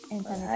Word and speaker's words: En-T-Chin: 「エン・ティ・チン」と発音しますが、はい。